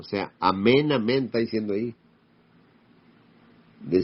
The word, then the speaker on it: amén: Y se pronuncia amén. No es malo, no, porque mucha gente dice omein y amén y le van cambiando porque oyen a los mesiánicos y empieza el problema.